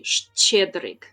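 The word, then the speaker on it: Щедрик: You also have this letter in the name borscht. So it's more like sh. Like sh, like this. And it's well, I'm just gonna pronounce it with a sh, because I don't want to break my tongue. It's Shedrik, but actually Shedrik.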